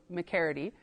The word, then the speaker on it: McCready: And Harriet McCready, or McCready, it depends on who you ask. The Métis names can get a little tricky with pronunciation, but it is an Irish last name, so McCready.